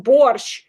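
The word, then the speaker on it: borscht: I don't know why T because there's no T in it in Russian. It's just borch.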